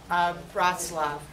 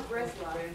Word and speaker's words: Breslov: So this is a story of Rabbi Nachman of Bratslav. What? No, Breslov. Breslov, I'm saying it wrong?